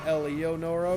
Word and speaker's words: Eleonora: would be the pronounce Eleonora right, VG0. Yeah, I say Eleonora because I see every vowel.